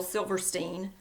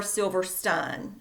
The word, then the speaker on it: Silverstein: share with you is shel silverstein or silver stun I've looked it up and I've found both pronunciations okay um anyway he